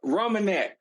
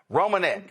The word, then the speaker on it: Reimonenq: First of all, did I pronounce the name right? What's the last name? It's Reimonenq. Reimonenq.